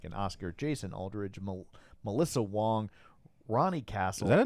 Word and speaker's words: Wang: There's a row instructor named Katie Wong, but she spells it Wang. Okay. It's spelled W A N G, but she pronounces